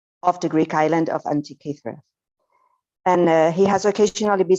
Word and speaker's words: Antikythera: He heads the Antikythera Mechanism Research Project, did I say it right? Antikythera Mechanism Research Project, which is an